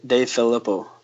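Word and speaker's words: DeFilippo: Let me ask you about offensive coordinator John DeFilippio coming to Dave Filippo. I was informed that's how it's spelled last week, or that's how it's pronounced.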